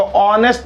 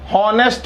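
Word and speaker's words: honest: फिर से राइट हूँ, क्योंकि जो एच है वो साइलेंट है, एच की आवाज नहीं आ रही है, तो ऑनेस्ट बोल रहे हैं ना हम, हॉनेस्ट थोड़ी ना बोल रहे हैं, ठीक है।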